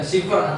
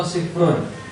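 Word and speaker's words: صفر: Dibaca sifar atau sifrun.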